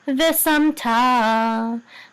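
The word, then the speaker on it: וְשַׂמְתָּ: And the accent is on ta. And this is munach before etnachta. Munach before etnachta says munach. So this is ve sam ta.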